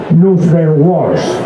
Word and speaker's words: Nrutyeshwar: Grupo Nugeshwar, no sé si estará bien pronunciado. No está bien pronunciado, te doy el micrófono y lo pronuncias tú mejor, ¿verdad? Venga, Nugeshwar, la palabra se divide en dos partes, Nutri,